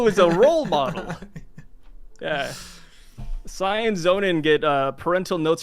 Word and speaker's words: Syv: It's actually Sai, but people call it, and I'm totally cool with that. Sai. Yeah, just Sai. S-Y. Remove the V. Yeah, remove the V. V is silent.